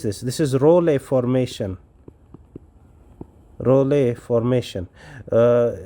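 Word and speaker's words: rouleaux: this is Ray formation rle formation uh do not pronounce it as Rolex Rolex is the singular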